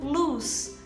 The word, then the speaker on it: loose: E a segunda a gente vai falar como luz, luz.